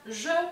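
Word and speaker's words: j'ai: Entonces nos queda je, y se pronuncia como una E normal en español, bien, je.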